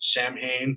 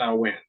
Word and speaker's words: Samhain: holiday uh which we a lot of people pronounce it Samhain but it's actually a salwan right and uh but that's that's a little